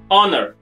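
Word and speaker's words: honour: ऑनर, एच ओ एन ओ यू आर, ऑनर, ऑनर के साथ भी हम एन लगाते हैं। क्यों लगाते हैं? क्योंकि एच साइलेंट है।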